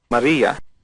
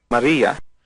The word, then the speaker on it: Maria: Maria. Let's listen to that again. Maria. You notice the R has a rolled sound. It's almost like a D.